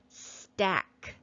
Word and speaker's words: stack: And remember with digraph CK, we cross out the letter C so we remember not to read it. It is silent. This is the word stack.